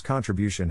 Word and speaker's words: contribution: Phonetic Alphabet to pronounce contribution have in mind that the size of the syllable indicates where the accent or stress is in this case the accent is in the third syllable corresponding to bio low